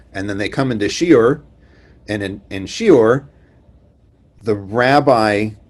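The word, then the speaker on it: שיעור: In modern Hebrew, it's shiur. If you are in a yeshiva, no one says that. Everybody says shiur.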